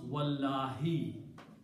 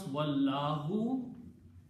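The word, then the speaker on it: والله: And then when you pronounce, you will pronounce Wallahi. If you pronounce Wallahu, it will not be qasam anymore. It will be and Allah.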